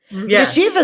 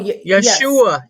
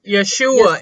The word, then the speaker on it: Yeshua: names of god jesus yeshiva is actually not jesus though is that oh no yeshua yeshua is how it's pronounced okay yeah you know